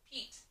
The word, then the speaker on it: Pete: um your turn pete so pete is a name so obviously it's capitalized it's a noun p says puh e blank e so there's e and it's buddy t says eat pete next word steve your